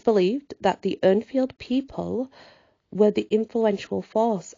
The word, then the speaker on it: Urnfield: Urnfield people. Depends where you go to how that's pronounced. I would pronounce it Urnfield people.